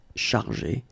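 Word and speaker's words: chargées: In both cases, you don't pronounce e and you don't pronounce s. So it will go like chargé, okay, for all the versions.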